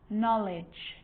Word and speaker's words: knowledge: A K is not pronounced when it comes before an N, like knife, no, knee, knock, not, knowledge.